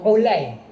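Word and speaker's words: عُلَيّ: Mukhtalif wa mukhtalif ni bermaksud nama dia ejaan sama tetapi bunyi tak sama. Contoh Ain, Lam, Ya. Dia. Jadi bila tuan-tuan baca hadis Ain, Lam, Ya apa? Ali kan. Sebenarnya ada perawi lain nama Ulay.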